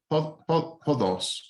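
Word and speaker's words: ὁδός: Because a long time ago, before the time of Christ, this o used to be pronounced with a h, hodos. There was breathing on it.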